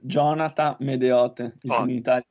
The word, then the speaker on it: Gionata Medeot: well thank you uh my name is jonath medot there we go that's how you pronounce it because I'm terrible my